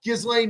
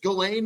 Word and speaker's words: Ghislaine: And now Gizlane Maxwell, which I guess her name is pronounced just Gain Maxwell. I've been putting the S in it and and I'm comfortable with that.